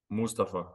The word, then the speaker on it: Mustapha: more like that so what is the preferred pronunciation of your first name Mustafa Mustafa okay so I'm saying I've